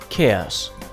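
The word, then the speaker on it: KEAS: thus the unit for the equivalent air speed not is spelled k e a s i pronounce it chaos similarly I pronounce the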